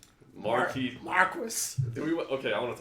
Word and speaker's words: Marquis: it's marquise yeah I always said Marquis audiobook pronunciation which apparently approved all but was Marquess I'm gonna say Marquis I'm giving the middle